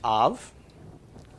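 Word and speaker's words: אב: it means father okay the pronunciation comes from the olive is silent comets and move to the pronunciation of the vowel underneath so the comets makes the short a sound followed by the bait with no doggish makes a V sound and keep your is read right to left okay so put all together silence ah and then a V so full pronunciation is off okay which is father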